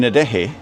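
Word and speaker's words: Adeje: Oh, and the H in Adehi is like the J in Adehi is like an H in huge. So there's a lot of breath.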